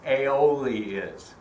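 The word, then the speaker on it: aioli: um who in this audience knows what an AOL is a i i l o l i aoli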